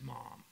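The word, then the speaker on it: Maugham: book called The Razor's Edge by William Somerset mom and he's a great author mom is spelled m g hm fantastic I think he's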